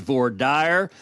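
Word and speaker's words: voir dire: parts of the country, there may be more Frenchified pronunciations of those words, but in the great state of Texas, it is vorire, and representing Texas, that's what I'll be using."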